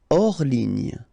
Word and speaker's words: hors ligne: Hors ligne, final here not pronounced, so ligne, and then here S is not pronounced, the final one, so hors, and remember H doesn't exist, so hors ligne.